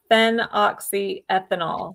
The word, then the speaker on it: phenoxyethanol: And I'll I'll spell it too. So it's it's fen oxyethanol.